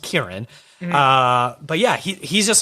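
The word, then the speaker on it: Ciarán: how do you even say his name it's pronounced kieran although it looks like cyrin but because he's northern irish i believe he's it's pronounced kieran uh but yeah he's just someone i've always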